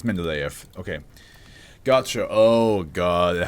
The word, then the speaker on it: Mendeleev: But how do you pronounce it? Mendeleev. Mendeleev. And if you use a British one? Mendeleev. It's Mendeleev.